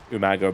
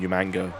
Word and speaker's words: Umaga: So Umaga became Umanga, which was hilarious.